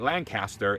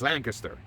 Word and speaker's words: Lancaster: Just like it's not Lancaster, it's Lancaster. All right.